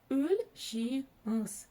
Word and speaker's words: Өлшеңіз: Чтобы прочитать букву О с черточкой посередине, за основу нужно взять букву Ё. И вот когда мы произносим букву Ё после согласной, например, в слове пес, мы слышим именно звук Ö, который нам нужен в казахском языке.